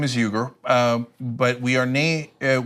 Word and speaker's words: Uygur: My family's last name is Uygur, but we are not Uyghurs. What? So in America, we normally pronounce it Uyghur for the Turkic people living in China. So, but the Turks pronounce it Uygur.